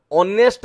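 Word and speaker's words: honest: प्रश्न टी नजर पकांतु ऑनेस्ट कइले यार उच्चारण एच थिले भी उच्चारण ओ रु आरंभ ऑनेस्ट तेणु एठी हमें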